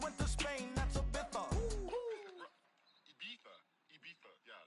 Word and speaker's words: Ibiza: I just went to Spain, that's a bitha. Ibiza. Yeah, it's pronounced Ibiza, actually.